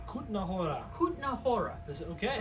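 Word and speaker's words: Kutná Hora: pronounced Kutna Hora. Kutna Hora.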